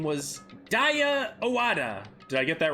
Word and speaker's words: Owada: Oh no, they've said Owada. That's how they've pronounced it, so I was just following their pronunciation.